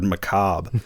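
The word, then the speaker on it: macabre: This is how this movie is how I learned to pronounce the word Macob because it's spelled macabra.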